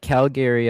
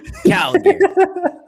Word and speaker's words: Calgary: I say it the Canadian way. Calgary. Calgary.